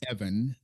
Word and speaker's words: Even: Now, we have an email uh from Evan. He's the gentleman from Norway. It's spelled eve ven. So in English to us it's even. But he pronounces it Evan, which he's entitled to